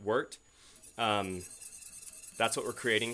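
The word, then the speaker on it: wort: so it's worked w-o-r-t it's not pronounced wart but worked um that's what we're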